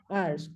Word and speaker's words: hours: HOURS. Ars. Do you pronounce the H over there? No, H is silent.